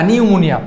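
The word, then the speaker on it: pneumonia: যেমন হচ্ছে এই ওয়ার্ডটা নিউমোনিয়া নিউমোনিয়ার আগে সবসময় পি থাকবে কি থাকবে পি থাকবে নিউ এই যে এন ই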